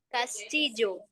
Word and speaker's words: Castillo: Castillo. Castillo. Castilho. Em Castillo, tem som de J.